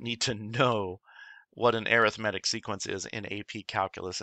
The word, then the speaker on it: arithmetic: pronounced with the accent on the the third syllable arithmetic not arithmetic and because of this being an arithmetic sequence